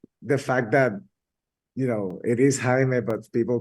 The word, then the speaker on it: Jaime: They keep calling him Jamie, and they're like, "Oh, it's Yeah, Jaime."